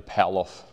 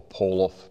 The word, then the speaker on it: Pallof: I want to demonstrate the paloff press or pauloff press depending on how you pronounce it p a l f